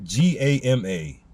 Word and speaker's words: Gamaliel: Spelled G-A-M-A-L-I-E-L, meaning obscene ones. That word, it may be pronounced, I'm just going to try it anyways. I believe it's pronounced Gamaliel or Gamaliel, meaning obscene ones.